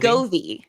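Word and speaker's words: Govee: v e oh c goie like love but like we don't say lovey but we say goie Gove Gove I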